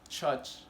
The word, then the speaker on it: church: But the correct pronunciation is church, church.